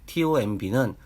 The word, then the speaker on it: tomb: wmb와 tomb는 두 단어 모두 알파벳 mb로 끝나는 단어들입니다. 이때 알파벳 m 뒤에 알파벳 b는 묵음입니다.